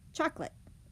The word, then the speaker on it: chocolate: Chocolate. We have 3 syllables, but we only say 2.